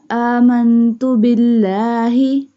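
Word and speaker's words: آمنت بالله: Amantu billahi. This alif will be stretched because there is a standing fatha is on the alif. Amantu billahi. This one lam will not be bold because ba has kasra sign.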